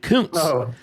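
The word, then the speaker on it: Koontz: Dean, it was You pronounce it couns.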